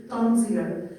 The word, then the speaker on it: tanzir: So in the writing in the body of my study, I prefer to use the word tanzir to have it in Arabic pronounced in English, tanzir.